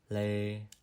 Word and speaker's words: lê: This letter is always placed in the beginning of the word and is pronounced like the L in the word love, la. For example, we have lê, Lao, Ly.